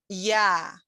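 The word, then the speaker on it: я: the english word you yeah pronounced like the letter the sound yeah in yard and by the way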